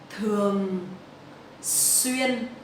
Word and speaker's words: thường xuyên: Thường xuyên. So the TH in Vietnamese we will pronounce like thờ. It's not the in English. Thờ.